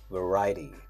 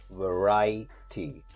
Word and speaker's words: variety: veriy where this phras is on the second syllable we say variety variety veriy Vari so like variety the next word